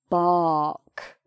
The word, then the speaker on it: bark: like this, R, bark, and we don't even try to do an R sound. It's just bark. So you've got the B and then an R sound and then the K sound at the end. So this R is not pronounced. It's just in the spelling, but it's not pronounced.